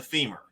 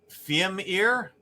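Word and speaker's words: Fimir: Okay, 2 skulls on the femur.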